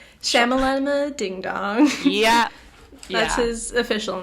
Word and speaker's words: Shyamalan: this huge twist very m night shalom ah that's shyamalan ding yeah that's his